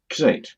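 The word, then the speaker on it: Xate: name is again please it's it's x-a-t-e like that and that's pronounced s8 yes yes okay good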